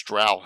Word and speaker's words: Drow: It's got, I don't know, 20-some Drow there. By the way, Joe pronounces Dro. He's from North Jersey. I pronounce Drow. I'm from South Jersey.